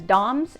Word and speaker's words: DOMS: DOMS, some people will pronounce it just as DOMS, and it stands for delayed onset muscle soreness.